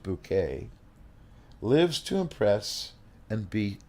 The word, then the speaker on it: Bucket: up appearances highest and bucket pronounced bouquet lives to impress and